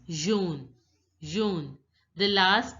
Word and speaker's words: jaune: Wherever you see AU together, it has to be pronounced as O. O. Jaune. So it becomes jaune, jaune.